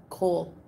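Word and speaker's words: kohl: of French food yeah she said coal it's um it's spelled like this k o h l and it's um it's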